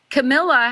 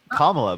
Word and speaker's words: Kamala: And also, Camilla has no policies listed. Camilla? Well, look that up. Wait. Is that respectful for Like you to the say her name princess? that way? It's Kamala, by the way.